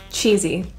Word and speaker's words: cheesy: that movie was really cheesy I think it's based on a play or something the s in this word is pronounced with a voice z sound chill this means to